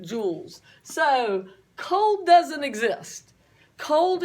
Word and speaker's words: joules: It sounds like a diamond or something, but it's spelt different, joules.